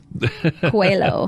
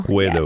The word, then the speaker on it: Coelho: I was wondering how you pronounce that last name, so now I know how. Coelho. Coelho.